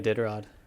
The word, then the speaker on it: Iditarod: Can you pronounce that for me? The Iditarod.